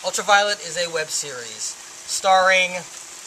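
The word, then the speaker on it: Ultraviolent: The N is silent. Ultraviolet is a web series starring Violet as probably as one of the most dangerous, kick-ass professional fixers on the planet.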